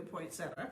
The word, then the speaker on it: poinsettia: Okay, 3 out of 4 say it the way we do, poinsettia. Okay. Sue Smith says she pronounces the I.